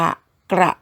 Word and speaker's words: กระ: คล่อง แล้ว นะ คะ ลอง ฝึก เค้า ออก เสียง ว่า ก รอ อะ กระ นะ คะ เพราะ ว่า ก ไก่ กับ รอ เรือ เป็น พยัญชนะ ควบ เรา ต้อง อ่าน ออก เสียง พร้อม กัน นะ คะ ลอง ฝึก สะกด